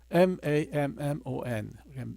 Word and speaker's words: mammon: M-A-M-M-O-N 영어로 mammon이라고 읽고 뭐 이거를 독일어식으로 읽으면 맘몬이라고 그렇게 읽는데요.